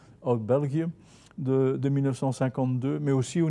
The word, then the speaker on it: België: België de 1952, mais aussi au niveau de la